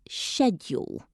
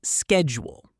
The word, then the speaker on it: schedule: In British English, we usually say schedule. And in American English, it's schedule.